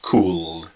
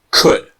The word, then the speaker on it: could: order as a question again the L is silent the pronunciation is not cool could could all right so what